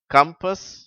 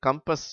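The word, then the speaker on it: compass: ஏழாம் வரிசை கம்பர்ட் கம்பெனி கம்பஸ் connect country இதிலே மூன்றாம் வார்த்தை அது கம்பஸ் என்று தான் உச்சரிக்க வேண்டும் காம்பஸ் என்று உச்சரிக்கக் கூடாது இப்பொழுது நான் இடைவெளி விட்டு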